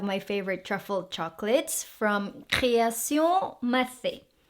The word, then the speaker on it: Création Mathez: Then we have my favorite truffle chocolates from Création Mathé. Création Mathé. So you don't pronounce the Z.